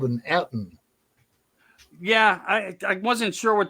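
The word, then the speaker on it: Ettin: No, how did you say it? Etten. E-T-T-I-N. Etten.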